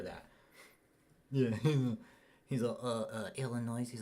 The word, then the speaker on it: Illinois: it was Illinois David the S is silent in Illinois okay that's not Illinois it's Illinois you know Cutlass Supreme